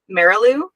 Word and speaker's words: Marilou: I didn't confirm how you say your name is it Marilu yeah awesome whichever way you want to say actually just yeah you